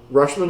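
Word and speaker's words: Rutschman: from Baltimore five for five was it rushman rushman is that the right way to pronounce it yep um I wanted him in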